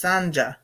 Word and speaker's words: Sanja: She said you pronounce the J as in jump, so it's Sanja. Sanja.